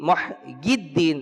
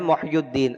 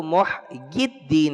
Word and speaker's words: محی الدین: محبوب سبحانی محی الدین، اچھا بعض کہتے ہیں محی الدین، محی الدین یعنی کہ یا کے نیچے زیر کے ساتھ صحیح تلفظ ہے اس کا، لیکن مشہور جو ہے وہ عوام میں تلفظ رائج ہو چکا ہے محی الدین۔ اصل جو اس کا تلفظ ہے وہ محی الدین ہے، یا کے نیچے کسرہ کے ساتھ ہے۔ ابو محمد سید